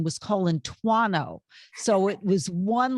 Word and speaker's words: Colasuanno: Colasuanno, I think I pronounced it right.